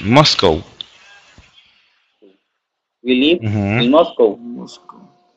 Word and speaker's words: Moscow: Esa es la pronunciación, Moscow.